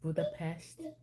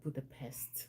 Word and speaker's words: Budapest: I know it's pronounced Budapest, not Budapest, like the pest. I would love to visit Budapest.